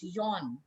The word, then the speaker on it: Jean: That's, if we call it in English, we will say Jean Martin, right? In English, we will pronounce it Jean Martin, but in French, it's Jean.